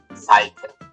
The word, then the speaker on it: Falke: Or in German, Falke. Again, as was the both before them, two syllables, Falke.